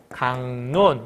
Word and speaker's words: 강론: 번 더 일어나야 돼 기억은 뭘로 바뀌어 이응으로 그러니까 최종 발음은 강론 이렇게 된다는 거예요 다른 것도 해볼까요